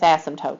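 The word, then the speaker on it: asymptote: t e they're pronounced ASM toote the p is silent and so the fact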